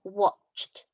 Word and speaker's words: watched: Or watched, played, listened. So jumped has a t sound on it and at the end, and watched has a t sound, but it's actually spelt with an ed.